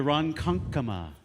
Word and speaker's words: Ronkonkoma: train to Ronkonkoma.